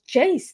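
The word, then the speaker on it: Geyse: And like you said, with the forward gay, is it Gaze? Gaze? She said it's pronounced Jace.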